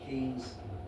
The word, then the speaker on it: Ashton Keynes: from Gloucester, lovely to be here in Ashton Keynes.